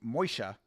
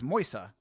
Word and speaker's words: Moisa: Good body shot from Moisha. Oh. Uhoh. Nice left hand for Moa there. Moisa. Moisa. I don't know why he was pronouncing the sh sound. It's Moisa.